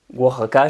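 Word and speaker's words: Oaxaca: peu près 6000 personnes dans l'état du wac a je crois ça se prononce moi j'avais vu ça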